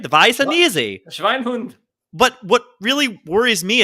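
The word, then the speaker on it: Weisse'n'Easy: right but from the Shiner Brewery it's called wise and easy although it's pronounced vicinity right the vice and easy but what really worries me it says it's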